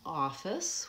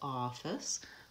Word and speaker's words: office: to be helping you another example office we have the vowel oo for the Oh F and that's the stressed syllable office versus official it becomes